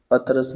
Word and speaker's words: पतरस: में लाहौर का जग्राफिया ये सब इंशा ये पतरस बुखारी के हैं। बाज लोग पितरस बुखारी भी इसका उच्चारण करते हैं, तलफुज़ करते हैं।